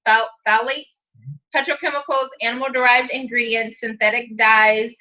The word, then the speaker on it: phthalates: All right, so 7 new products, all formulated without sulfates, parabens, I don't know how to pronounce that word. Phthalates. Say it again. Phthalates. Phthalates, petrochemicals, animal-derived ingredients, synthetic dyes, and preservatives, synthetic fragrances, no animal testing.